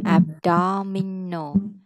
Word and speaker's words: abdominal: ABs À, xong cái đó đọc là abdominal.